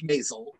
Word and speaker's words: Maisel: Well, yes, it's Maisel. I will get it right. Not a problem. But that was really fun. I was brought in for Maisel for the first time in August of 2017.